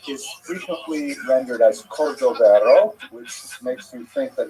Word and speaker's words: Cordovero: on his Marseva illustration, it's Cordoero. It's a Portuguese spelling, but it's kind of a strange thing to pronounce in Hebrew, so it was sort of mangled into Cordovero, and that has become standard, even though it's probably not correct.